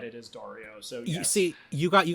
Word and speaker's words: Dario: pronounced I'm of course I'm going by the Spanish pronunciation of it no you're right I